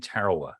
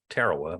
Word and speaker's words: Tarawa: on Kwajalein, Woche, and Tarawa. Not Tarawa, but Tarawa, I guess is a more, is a more appropriate pronunciation.